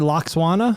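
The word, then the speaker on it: Lwaxana: Lockswana.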